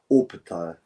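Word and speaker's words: Opetaia: I take the Us. The Us said is Jai Opetaya. So that's how I'm pronouncing it.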